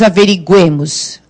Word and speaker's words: averiguemos: Agora é aqui que nós averiguemos. Agora o U foi pronunciado, mas ele ficou fraquinho porque a força está no E.